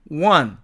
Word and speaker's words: when: 그러나 실제로는 강세가 없는 이 관계부사 when은 H는 탈락되고 N은 발음이 약화된 까닭에 어로 바뀌게 되므로 실제로는 one 이렇게 발음이 됩니다.